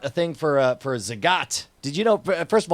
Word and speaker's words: Zagat: thing for a for Zagat did you know first of all did you know that there's Zagat and not zagit no no I mean